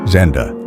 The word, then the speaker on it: XNDA: For over 10 years, Hamilton has recorded under the alias XNDA, spelled XNDA, but pronounced Zenda.